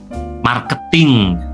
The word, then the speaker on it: marketing: Mar-nya masih sama ya, sama seperti tadi. Kalau di British English ini tidak ada R-nya ya. Jadi, R-nya itu hilang. Ma. Kemudian kalau di American ini ada ya, ada R-nya jadi mar, ada simbol A di sini.